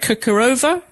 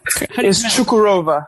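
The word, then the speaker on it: Çukurova: that you're out there with how do you pronounce that? Kukarova. Chukurova.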